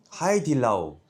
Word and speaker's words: Haidilao: - Haidillao! - H**dilao! Ầy, phải gọi là Haidillao chứ Ai lại gọi là H**dilao? Chúng ta là phải phát âm như vậy!